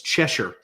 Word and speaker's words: Cheshier: Go to Amazon and it's Cheshure. Yep. All right. All right. I pronounced it right.